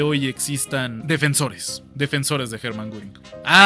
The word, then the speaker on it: Göring: Cuando a una O en alemán le pones el umlaut, se escucha como U. Hermann Göring.